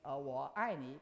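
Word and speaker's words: 我爱你: In Chinese we say wo ai ni. People say wall eye knee, right?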